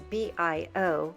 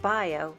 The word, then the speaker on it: bio: you say organic in French is Bo it's B IO but instead of pronouncing it bio it's bio Sammy the owner is fluent in